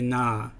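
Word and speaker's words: nā: the word na this the letter A has a kahako over it which means that you elongate the letter so instead of saying nah you would say nah and that affects sometimes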